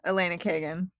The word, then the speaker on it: Elena Kagan: Is it Elena Kagan? Elena Kagan. Okay, not Alina.